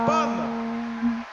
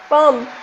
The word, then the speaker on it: Pomme: Pomme. Pomme.